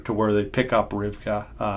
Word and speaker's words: Rivka: The better pronunciation would be Rivka.